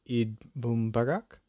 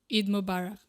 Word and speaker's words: Eid Mubarak: To commemorate the festival, I think, okay, I'm going to pronounce this wrong again, but people would greet each other by saying Eid Mubarak? Eid Mubarak. Eid Mubarak.